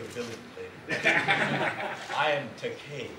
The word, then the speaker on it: Takei: I am Takei. Oh, Takei. Right, rhymes with okay.